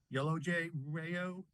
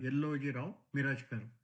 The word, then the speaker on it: Yelloji-Rao Mirajkar: That's Yellow J. Rayo. Miro? Yes, Sorry about that. I butchered your name. that's okay. This is Yellow Rao Mirajkar.